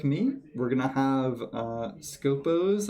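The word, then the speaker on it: Skopós: So if you're like me, we're going to have Scopos, I believe is how it's pronounced. There's a little bit of an accent on the second O, so I'm not sure, but they have two like little drone things.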